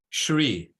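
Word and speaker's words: श्री: So again, when you see the accent above the S, you pronounce it as like if you're telling a child shu, right?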